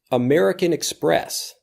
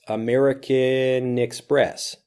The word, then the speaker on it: American Express: Express American Express listen carefully to how this blends we've got that last sound of the end from American and the e from Express American Express Nicks press and Express American Express becomes MX MX when we're talking about